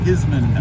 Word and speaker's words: Ismond: Isman. Isman.